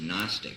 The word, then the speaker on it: Gnostic: s t i c the g is silent obviously that again g n